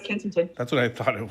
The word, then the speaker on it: Kensington: of it uh Kenington Tamina yes you're right Kensington that's what I thought it was I couldn't remember the the pronunciation but Kensington um which is uh we